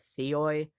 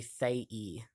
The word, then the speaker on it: Theoi: Um, Now I know a lot of people pronounce it Theoi, but it is actually Thei. Uh, but I mean, if you want to pronounce, I mean, if you pronounce it Theoi, that's fine. But I did learn that it in Greek it is Thei, because Theos is one god. Thei is multiple gods.